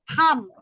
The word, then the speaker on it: thumb: called thumb. Don't pronounce the B letter.